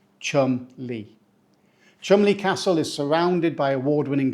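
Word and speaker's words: Cholmondeley: is the legendary Chumley we pronounce it Chumley so we don't say CH M or CH Mond early this one's a real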